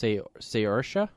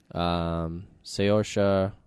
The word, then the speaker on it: Saoirse: I guess it's Saoirse. Because they said her first name rhymes with inertia.